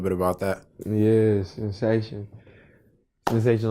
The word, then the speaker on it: Senseition: Sensation on all streaming platforms too. Go ahead and get that. It's spelled Senseition.